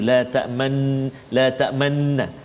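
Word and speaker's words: لا تأمنا: Iaitulah pada kalimah la ta'manna ni, cara baca dia ialah kita kena muncungkan mulut kita seolah-olah kita membariskan dhammah mim tu, sebab dia asalnya la ta'manuna dia hasafkan satu nun, jadi dia jadikan sabdu la ta'manna, tapi dia ada ishmam tu, la ta'manna.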